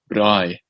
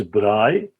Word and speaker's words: braai: right Bri yeah Bri in the French spell it B uh b r a with I with on instead of two A's and a i b r a AI so it's Bri and that basically means